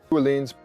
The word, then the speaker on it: Öhlins: But if you're curious, they actually pronounce it. And welcome to Öhlins, and welcome to Öhlins, and welcome to Öhlins, Öhlins, Öhlins, Öhlins, Öhlins, Öhlins.